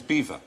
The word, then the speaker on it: Belvoir: What do you- The bottom is Beaver. Beaver. Beaver, the Vale of Beaver. I'm going to have that if I ever became a dame or anything. Dame. Dame, and I say, no, it's pronounced beaver.